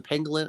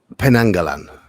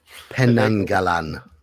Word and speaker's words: Penanggalan: Was the pangolin? How do you pronounce that? Penangalan. What? Yeah. Pangolin? What? Penangalan. Yeah.